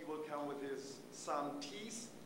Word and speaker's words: Thies: He will come with his son Thies. You would pronounce the name Thies, T-H-I-E-S, a North European name.